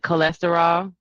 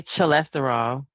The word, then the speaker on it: cholesterol: So I would have to find other words that use that same CHO, like cholesterol. You don't say cholesterol, Oh yeah. right? The CH still has that C sound.